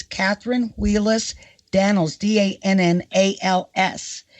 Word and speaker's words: Dannels: It's Katherine Wheelus Dannels, Dannals. Am I pronouncing that right? Dannels? Yes, that's ELS, Dannels.